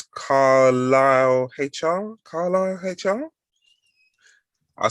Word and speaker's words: Carlyle: at the moment is, and I have to pronounce this correctly, it's Carlisle HR.